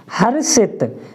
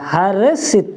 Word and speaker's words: हर्षित: हर्षित, देखिए इसमें र निकला हुआ है ऊपर तो उसका उच्चारण स से पहले हो रहा है, हर्षित है ना, हर्षित।